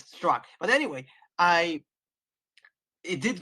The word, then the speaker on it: Straka: about and by the way his name is pronounced Brandon Str not straka and I was I asked him and yeah that's what he said it's struck but anyway I it did go back to